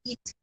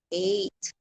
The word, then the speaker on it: eight: And then I even pronounced the word eight. Yung walo ba? Walo, eight. I pronounced it before eat. Eat. It's seven. I pronounced before seven. It's seven. Not seven. It's seven. Sabihan akong ganon. Hindi eat. Eight.